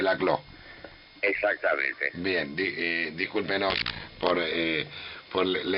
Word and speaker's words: Laclau: se escribe Laclau y se pronuncia Laclau.